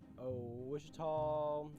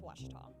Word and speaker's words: Ouachita: Some folks think the O is a Q and they say Quashita. Hey, Ouachita. Ouachita. Back in Texas, everybody pronounces it Wichita, but really, it's Ouachita. Ouachita. Washita.